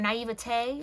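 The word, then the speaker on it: naïveté: It's kind of like that sense of naivety, or naivete is how you say it, I think. Naivete is what's transforming when it comes to your love journey.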